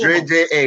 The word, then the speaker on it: Dre Ja: Dre J-A, that is it. Dre J-A. Dre J-A. Okay, yes, so it's not Ja, it's Dre J-A. Okay, so it's like Dre. Yeah, it's Dre J-A, because, you know, shortening for Jamaica, you know?